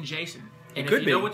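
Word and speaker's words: Jacen: J-A-C-E-N is his first name, Jason.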